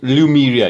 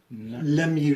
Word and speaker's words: Lemuria: And it's Lumeria, he said. Lemuria. Lemuria. Lemuria. Well, Alright. that's my pronunciation.